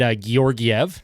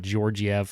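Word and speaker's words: Georgiev: my video last night it's gorv not georgev or however I was pronouncing it it obviously was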